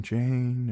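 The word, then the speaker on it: Jeyne: "Jane, Jane, it rhymes with pain."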